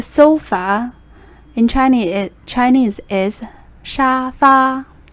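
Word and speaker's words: 沙发: in chinese chinese is shafa it actually comes from english pronunciation similar sounds like sofa or shafa so it's very easy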